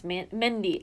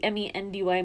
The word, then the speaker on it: Mendy: What do you say his name's Mindy? Oh, I guess it's Mendy, M-E-N-D-Y, Mendy. What a weird name.